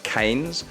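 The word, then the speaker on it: Keynes: and here we have kean's college it's actually pronounced canes but we all called it kees this is where I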